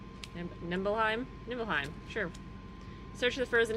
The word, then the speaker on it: Nibelheim: Nebulum? Nibelheim? Nibelheim, sure.